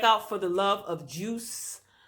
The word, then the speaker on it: Joose: Juice is spelled Joose.